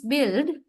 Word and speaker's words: build: In build, how do you say it is build, which means E. The vowel is short E. Lax vowel.